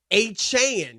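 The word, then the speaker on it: Achane: running back uh Devon achan that's how you say it a Chan he he corrected that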